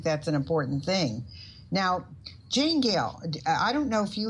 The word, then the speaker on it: Janegale: The Janegale is a family name. It was my first ancestor from Ireland. Her first name was Jane, last name Gale, like the gale of wind. And that's why it's spelled that way.